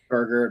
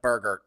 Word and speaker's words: Bergert: I did Google the pronunciation of Bergert, and it is Bergert. It is Bergert. Okay. What they're telling me here is you pronounce it BER-GRT.